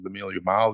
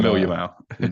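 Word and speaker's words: Lamine Yamal: 2 goals and 1 assist, but because of Lemille Yamal, they just kind of completely got overshadowed. Did I Yeah. say his name wrong? Yamal. But Lamil Yamal.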